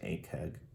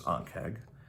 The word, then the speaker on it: Ankheg: So a lot of people pronounce it Ankheg, but it's Ankheg.